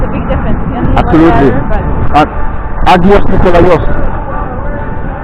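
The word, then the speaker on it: Άγιος Νικόλαος: Agios Nikolaios. They say Aios Nikolaios.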